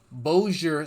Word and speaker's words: Bossier: was from bullish City I should probably pronounce that boat Bossier City B OSS ier he was from Bhoja City but was he from